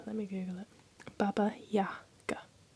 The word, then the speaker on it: Baba Yaga: It's not Baba Jagger. Let me Google it. Baba Yaga. The A in Baba is pronounced like the A in father.